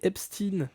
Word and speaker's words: Epstein: L'affaire epine non, il faut le prononcer en américain en fait les noms anglais. En anglais. Epstin.